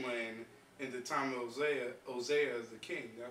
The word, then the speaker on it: Hosea: Those are the 10 tribes which were carried away prisoners out of their own land in the time of Hosea the king.